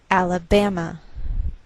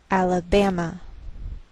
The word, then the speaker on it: Alabama: So the greater stress is on this third syllable. We say Alabama, Alabama.